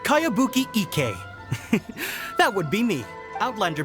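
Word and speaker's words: Kayabuki Ikku: one i've never heard of it by cowabunga icky this is a really strange name who's this cowabunga it's pronounced kayabuki ek that would be me outlander brigade is a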